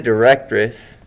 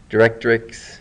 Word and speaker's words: directrix: other lines okay say the directress directrix sorry I'm saying it wrong is right here it's